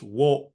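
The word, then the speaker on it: を: to point out that this o, it's written like it's wo, but most modern Japanese people pronounce it just like the o that we learned the first day in the a, I, u, e, o.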